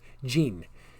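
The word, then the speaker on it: djinn: to pronounce d g d j i n n which is gene uh the d is pretty much silent in that i have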